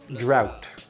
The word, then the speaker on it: drought: drought okay the H the GH not pronounced drought flood like going up